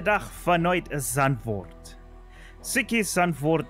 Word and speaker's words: Zandvoort: finite as unfelt psyche son Ford as it is pronounced in Dutch has already seen quite